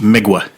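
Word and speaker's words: Mgła: A And it's pronounced Migua.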